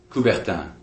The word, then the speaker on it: Coubertin: And both of those names rhyme with the Olympic founder, Coubertin.